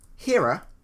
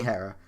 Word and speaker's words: Hera: only fitting okay okay you said hero and Hera and now you've just gone hero you're you're really confused about this pronunciation be okay here I want to say hell if you wanna say Hera right Hera being a blank